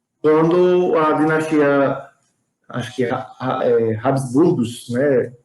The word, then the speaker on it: Habsburgos: Até, na verdade, a Primeira Guerra Mundial, em 1918, quando a dinastia, acho que Habsburgos, né? Acho que essa é a pronúncia mais correta, Habsburgos, ela é desfeita, né?